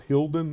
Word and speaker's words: Hilden: I guess when you go back, is it Hilden? Is that how you pronounce it? So actually, I played Hilden. Yes, VfB Hilden.